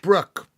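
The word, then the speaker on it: Bruch: I mean, pronounced Brooke, German composer who wrote it for the Jews of Liverpool who helped found the orchestra there.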